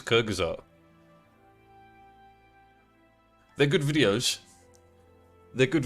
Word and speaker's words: Kyrgyzstan: How do you pronounce this? Kyrgyzstan. Kyrgyzstan. Correct me if I'm wrong. I believe it's Kyrgyzstan.